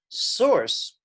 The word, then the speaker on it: src: so be very careful img source is uh how we pronounce src and it's very similar